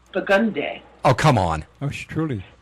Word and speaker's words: Burgundy: differently but for instance there's a street here that when I read it it says burgundy but they call it bugundy oh come on oh